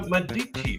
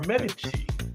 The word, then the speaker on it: Medici: He was born in Florence, Italy, and worked for the Medici family, or Medici family if you prefer.